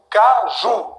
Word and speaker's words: Caju: Porque a palavra oxítona, olha, a sílaba mais forte é ju. Caju. Isso aqui é mais forte.